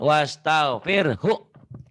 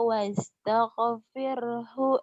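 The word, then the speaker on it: واستغفره: Iya, jadi cara bacanya boleh dua. Boleh fasabbih bihamdi rabbika wastaghfirh. Tapi kalau dihentikan. Jangan wastaghfir. Banyak orang jadi imam bacanya begitu salah. Wastaghfirh. Atau yang lebih selamat yang tadi yang dibaca disambung.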